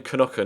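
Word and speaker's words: Knoche: It's Robin Knocker, not Robin Nosh, as I previously tried to pronounce it.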